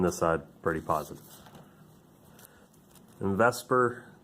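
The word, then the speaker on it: VSEPR: side pretty positive and Vesper is how that's pronounced as an acronym for valence shell electron pair repulsion theory right that should do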